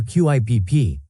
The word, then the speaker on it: QIPP: Facilities and providers can participate by enrolling in the Quality Incentive Payment Program, or QIPP, pronounced QIP.